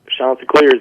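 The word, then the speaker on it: Chanticleers: Their nickname, their mascot, you mentioned it already, the you correct pronunciation. Is it the Shantaa Clears? Is that it? Shanta Clairs.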